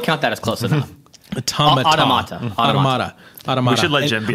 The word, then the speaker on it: Automata: Okay, Nier Autonoma? I gotta say it right or Jim's gonna like... No, that's close. I would count that as close enough. Automata.